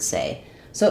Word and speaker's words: says: the letter s but it does not sound the same as the word say so in the word say letters a y say the a dip Fong like say day name Etc but in the word says it doesn't follow our spelling patterns and rules our vowel in says instead of the a y saying a like say it's actually the E vowel like in get or in red and so it doesn't